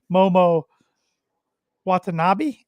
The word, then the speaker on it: Momo Watanabe: Mercedes versus Momo Watanabe, I believe is how you pronounce her name, for the TBS Championship.